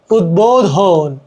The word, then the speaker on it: উদ্বোধন: যাই হোক, তারপরে কি উৎ, উপসর্গ যোগে গঠিত শব্দ, এর সাথে ব ফলা, ব বাংলা উচ্চারণ লুপ্ত হয় না। উদ্বেগ, উদ্বেগ, উদ্বোধন, উদ্বোধন প্রভৃতি।